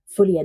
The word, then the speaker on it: Folie à deux: are talking about Joker F ad do I'm French so I can pronounce it correctly I bet it's the first time you heard that correctly this one's going to